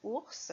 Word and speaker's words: ours: Ours, avec un S qui finit le mot et qui fait le son S, comme dans os.